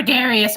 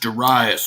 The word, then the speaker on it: Darius: Emperor Darius, all of the provinces have paid their taxes. It's pronounced Darius, little dude.